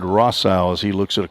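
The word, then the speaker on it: Rossow: Rosso, R-O-S-S-O-W. I think it might be Rossau. We had some help with some pronunciations by a media intern here, Aurora Reeves. I think she said Rossau as he looks at a called strike.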